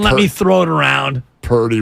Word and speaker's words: Purdy: me throw it around Purdy rhymes with 30 but also 30.